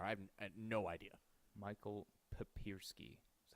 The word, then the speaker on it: Papiersky: uh papiersky or I've had no idea Michael papersky that's how you say it yeah apologies he